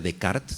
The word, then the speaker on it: Descartes: Hay un libro maravilloso de Antonio Damasio que se llama El error de Descartes o el error de Descartes, si lo pronunciamos correctamente, y este libro trata de lo siguiente.